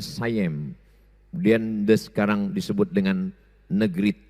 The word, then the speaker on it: Siam: Dan ketika Kedah, Kedah sekarang itu Malaysia dijajah oleh Siam, tulisannya Siam. Orang Barat membacanya sayem.